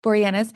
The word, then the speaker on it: Boreanaz: Boreanaz, also known as Angel, Mm-hmm.